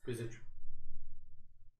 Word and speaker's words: visage: Visage. Visage is a legitimate way to pronounce it.